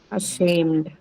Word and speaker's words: ashamed: reason would be that the first one is a schwa sound right a shame so the second syllable take the stress here and e d